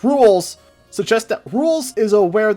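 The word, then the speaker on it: Rouxls: There's a lot with the song, it's pronounced "Rools", suggest that Ralsei is aware that he is in a game.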